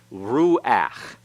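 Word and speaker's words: רוּחַ: is pronounced after it but when it's the last letter in a word and that letter is a guttural and the path that goes under it it's pronounced before the constant so this is now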